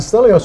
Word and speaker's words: Stelios: Have I pronounced that right? Yes, that's right. Yeah. And Stelios, you're a product manager for what sort of products?